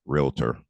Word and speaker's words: Realtor: estate agents to know, the right pronunciation is Realtor.